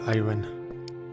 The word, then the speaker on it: iron: ore iron or not iron i still have to get used to not pronouncing the r in iron iron maybe one day i'm able to say iron naturally i doubt it or